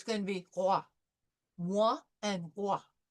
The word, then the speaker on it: roi: So we have the French R followed by the wa. So it's going to be roi.